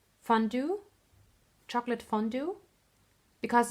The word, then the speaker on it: fondue: wanted to say it in the right English pronunciation fondue chocolate fondue because it's a French word it's